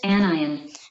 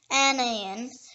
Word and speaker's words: anion: The next word is anion. Anion. It can also be pronounced anion.